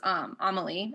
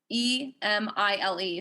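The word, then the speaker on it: Émile: And so she's directly engaging with the specific text of his, which is Amélie. Am I pronouncing that right? What is it? Amélie. Emile.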